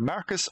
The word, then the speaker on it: Marcus: And it's either Marcus or Mercus, depending on which region and which version of the game you're looking at, because in English in North America and English in PAL, it's spelled M-A-R-C-U-S and M-A-E-R-C-U-S.